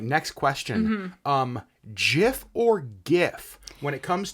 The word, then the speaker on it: GIF: But so according to the creator of this thing, it is pronounced GIF.